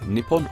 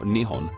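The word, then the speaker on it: 日本: it this in kanji which can be pronounced in one of two ways nipon or nion for the rest of this video I will be using Nihon these two Ki characters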